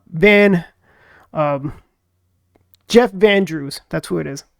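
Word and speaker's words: Van Drew: representative U Van um Jeff vandrew that's who it is I've been saying Jeff Andrews Jeff Jeff vandre he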